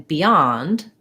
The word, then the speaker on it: beyond: tenser b beyond um letter o says ah and beyond um it's uh typical stressed syllable o is going to be an ah vowel and then we have our nd sound so thinking about that